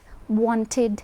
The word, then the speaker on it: wanted: If you have a word which ends in a d or a t, only then can you pronounce the id sound. So you would say wanted because there's a t, and so you can say id.